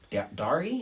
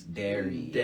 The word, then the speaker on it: Dari: my name and stuff they like always like dary and i'm like oh no it's dairy i guess it's because of the way it's spelt you know i mean it's like it looks like diary but once the one